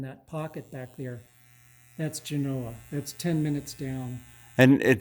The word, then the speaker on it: Genoa: The Eastern Sierra, and looking down to the community of Genoa, which I can see it in the light. You say Genoa, It's Genoa? Yes, and it's pronounced Genoa.